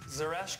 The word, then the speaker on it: zereshk: Zeresh is how you pronounce it.